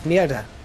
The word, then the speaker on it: mierda: That doesn't roll off the tongue well. But that's just how it's said. It's mierda.